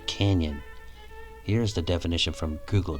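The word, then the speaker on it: cañón: Interestingly, the word cannon in Spanish is spelled C-A-N-O-N and pronounced like the English canyon.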